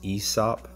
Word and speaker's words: Aesop: The brand is pronounced Aesop, at least according to Google.